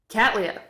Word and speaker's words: Cattleya: are named after so let's do the pronunciation real quick of cat lease okay here we go cat lee ah catlia so william catley actually received